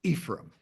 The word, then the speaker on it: Ephraim: Little town called Ephraim, Utah. Um, it's Er, and a lot of people pronounce it differently, but it's Ephraim.